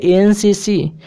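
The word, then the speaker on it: NCC: अब यहाँ पे एनसीसी, तो इसका प्रोनाउंसिएशन करोगे तो ए, है ना, तो ये क्या है, वॉवेल साउंड है ना, तो वॉवेल साउंड है इसीलिए एन का प्रयोग करेंगे एनसीसी के पहले, यानी ऑप्शन बी आपका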